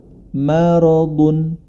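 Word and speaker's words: مرض: Maka diperlu diperhatikan adalah huruf yang tidak tebal jangan sampai dibaca tebal seperti kata maradun. Maradun ma tetap dia dibaca ma sebagaimana mestinya.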